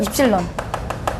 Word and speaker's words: 입실론: 기호는 뭐라고 있냐면 어 그냥 입실론이라고 읽어요 입실론 론이라고 읽고 얘는 뭐라고